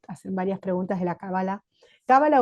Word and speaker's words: cábala: la la palabra bueno bueno en hebreo es cábala Si hablas con alguien en hebreo te dirá cábala y Si hablas con alguien en castellano de España te dirá cábala y Si hablas con